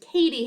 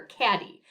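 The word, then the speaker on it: Cady: ever seen mean girls the main character is named katie herron but as you can see on the screen her name is spelled c-a-d-y so often times throughout the film people call her caddy and this is a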